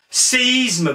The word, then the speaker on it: séisme: Séisme, par exemple. C'est pas nécessaire de mettre des petits points parce que E accent aigu I, ça se prononce CI, séisme.